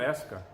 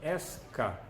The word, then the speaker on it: Esca: nome passou a ser Esca. E S é o som, como se pronuncia a letra S de Sylvan. E o kosher, o K, SK. O K é o som da letra K de kosher.